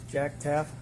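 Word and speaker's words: Taef: Please tell us your name and spell it for the record. Jack Taff.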